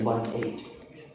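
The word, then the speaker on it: eighteen: What is the difference in the pronunciation between a 0 and 1-8? This one, the stress is here, 80. Yes. This one, the stress is here in T, 18.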